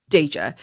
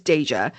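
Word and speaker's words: Daeja: And she just feels like something tells her like, "DA." That's how I'm pronouncing it. D A E J A. I feel like it's Dja.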